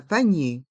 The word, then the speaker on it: panier: l'entrée du supermarché un panier un paner les lettres e r se prononc e et avec le i devant on prononce i nier un panier un panier